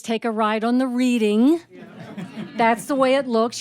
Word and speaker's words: Reading: a ride on the reading that's the way it looks you'd think that's the way it's pronounced no it's Reading Pennsylvania named after reading England the birthplace of William